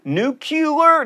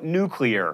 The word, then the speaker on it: nuclear: fact lava and pasta nuclear nucular no nuclear this is an officially